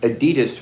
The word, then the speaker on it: Adidas: That's how you say it. Is that how you say that? Adidas. Adidas. Adidas. Adidas. Adidas. Adidas. Adidas. Adidas. That's how they say it in Germany.